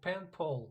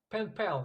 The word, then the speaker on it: pen pal: I guess she's my pen pole you know pen pole your pen pal pen pal yeah pronunciation sorry yeah